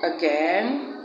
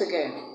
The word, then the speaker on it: again: We have that sound at the beginning of the words around, also, again, and at the first syllable of the word today, and the first syllable of the word tomorrow. Tomorrow.